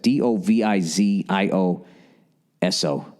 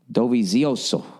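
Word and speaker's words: Dovizioso: I got to watch another 15 races to be able to pronounce that. D O V I Z I O SO Zooso.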